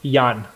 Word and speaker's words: Jan: gary wagner versus jen john is it it's john pribula right yeah it's actually pronounced yan oh yan pribila all